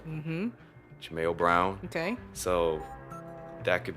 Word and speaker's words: Jaimeo: M e o ji m yo and it's pronounced Chimayo mm-hmm Jame o Brown okay so that could be Jo Brown